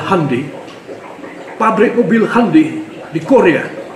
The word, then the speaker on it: Hyundai: pabrik mobil Korea Hai orang sini bilang Hyundai Bacanya adalah hundai pabrik mobil hundai di